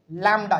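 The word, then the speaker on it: lambda: एक Greek word है उसको हम लोग बोलते हैं लडा याद रखिएगा इसका स्पेलिंग थोड़ा सा हम लिख देते हैं यहां पे सिंपल है एल ए एम बीडी ए लैडा ठीक है कहने का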